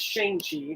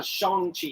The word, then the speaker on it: Shang-Chi: introduced our Asian hero, formerly known as Shang-Chi, now Shang-Chi. Shang-Chi. Legend of the Ten Rings. Let's say it right. Everybody I know called him Shang-Chi our entire lives since he debuted in the 60s or whatever. Yeah, we're saying it the American way.